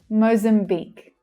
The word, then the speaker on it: Mozambique: So the first syllable, we have the O vowel sound. Mozam. Mozam. And the last syllable is the stressed syllable. It's louder and clearer. Mozambique. Mozambique. The long E vowel sound.